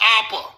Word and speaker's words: Abba: Abba is pronounced Appa.